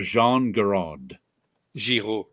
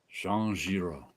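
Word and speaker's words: Jean Giraud: the collected fantasies of Jean Ziro Jean Ziro yep so say g i r o yeah the a and u is pronounced o and the D is silent Jean Jiro and he signs these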